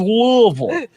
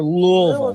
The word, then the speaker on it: Louisville: Louisville Kentucky right and how do you say it do you say it Louisville or louville way the way Lille see they want it to be they want it to be two syllables Lille they don't even